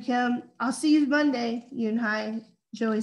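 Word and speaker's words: Unhei: turning around it was joey your name is yoonhi he asked with her with his eyes open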